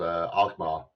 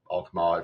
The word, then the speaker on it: Alkmaar: So, um there's a town just north of our town called Alkmaar or Alkmaar if you want to be British with the pronunciation.